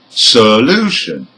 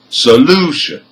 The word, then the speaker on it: solution: word has four syllables and number four the stress is on the second syllable which is the second from the end because it has three syllables let's give them again